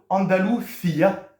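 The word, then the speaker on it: Andalucía: s'appeler les habitants de andaluia accentonique sur le i ça va être les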